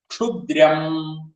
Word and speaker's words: ക്ഷുദ്രം: ക്ഷു ശ്രദ്ധിക്കുക, കിഷ് ഉ ആണ് ക്ഷു. ദ്രം, അത് ദ്രം. ക്ഷു എന്ന് ചെല്ലുമ്പോ ആ ദ്രം എന്നുള്ളത് ശക്തി കൂടി പോകരുത്. കാരണം ദ എന്നുള്ളത് മൃദുവായിട്ടുള്ള ദകാരാണ്. ദ്രം, അത് ദ്രം ആയി പോകരുത് എന്നർത്ഥം. അതാണ് പറഞ്ഞതിന്റെ ഉദ്ദേശം. ക്ഷുദ്രം, ക്ഷുദ്രം ഇത്രയാവുള്ളൂ.